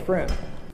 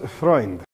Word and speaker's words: Freund: Hey, friend. It is pronounced Freund.